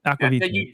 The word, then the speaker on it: Aqvavitae: Aqvavitae.